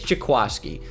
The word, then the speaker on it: Jaquiski: and a ramble about how it's spelled Jaquiski, and he's like, it's Jaquaski, which I'll never understand.